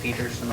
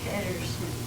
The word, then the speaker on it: Pedersen: Did they pronounce it Peterson over there, or? No, they pronounce it Pedersen.